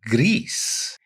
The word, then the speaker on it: Gris: I believe it's called Gris. You are correct with your Spanish pronunciation.